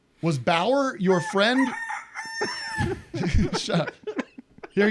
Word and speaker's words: Bauer: Matt says, was Bauer your friend? Shut up. Here he goes. He goes, that's the sound of the rooster, okay? Was Bauer your friend who was on before Vic?